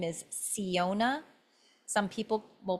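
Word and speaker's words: Syona: website I'm transitioning so the new name is Siona some people will pronounce it soniona and that's fine too It's s y o n a.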